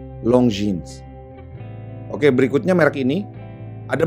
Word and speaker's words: Longines: Cuman waktu itu gue ketemu kolektor jam tangan merek ini, bacanya Longines. Sementara seharusnya adalah dibaca Longines. Gua ulang, Longines.